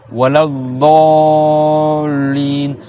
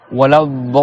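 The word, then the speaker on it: الضالين: Walad dallin. Si tu veux faire dans les règles du tajwid, il faut que tu prononces 6 temps. Walad dallin.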